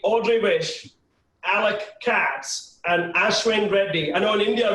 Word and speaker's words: Ashwin: by ashwin and not ashwin right so sorry i know it no that's fine i'm pretty unapologetic about the indian pronunciation if you could say ashwin would be great all right cool